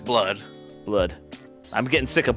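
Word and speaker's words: blud: it's shortened to blood I don't know if it's pronounced blue or blood I think it's pronounced blood blood I'm getting sick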